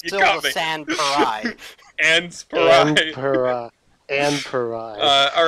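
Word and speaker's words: Sans Pareil: San Parai.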